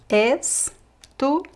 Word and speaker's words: estudou: Joana estudou. The stress goes to the end.